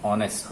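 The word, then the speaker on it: honest: जैसे कोई ईमानदार है, इसको हम बोलते हैं ऑनेस्ट। ऑनेस्ट। नहीं, एच साइलेंट है, ऑनेस्ट।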